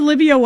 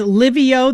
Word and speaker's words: Lyvio: Does the Livio app involve any education where you're explaining to